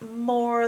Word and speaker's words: more: But the strange part is that you got an E on the end. If you said this phonetically, it would be more, because this would be a magic E, but it's not. You don't hear it, and it's not doing the job of a magic E, so it's just there for looks.